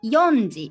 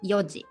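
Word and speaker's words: 四時: have to be careful we don't say yondi or cd for four o'clock it's just one way yoji for nine o'clock um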